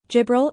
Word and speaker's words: Jibril: Jibril is an Arabic name that means Gabriel in English. The DJ sound is pronounced like J in Ajus, making it a challenging name for those not familiar with Arabic phonetics.